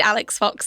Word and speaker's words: Alix Fox: yeah I am indeed Alex Fox the name that quite conveniently rhymes with Alex Cox which is fitting for